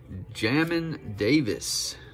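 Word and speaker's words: Jamin Davis: are you kidding me nico collins to houston jamming davis is how you pronounce it jamin hill it's not bad for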